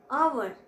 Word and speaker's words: hour: do we pronounce it we pronounce it our and we just keep h in silent form so we stress on